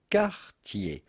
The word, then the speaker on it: Cartier: For the typical French pronunciation with the typical French R, say Cartier.